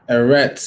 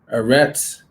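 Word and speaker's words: ארץ: to focus all right eretz is what they say this is the yiddish of pronouncing we don't use yiddish all right arets strong's h7 seven and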